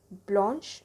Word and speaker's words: blanche: added to make that feminine and it is pronounced as Blanche is in feminine which is white color then